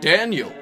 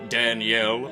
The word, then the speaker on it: Daniel: confirmed daniel house jr is indeed pronounced daniel please stop calling him danielle or dan uel thank you no it's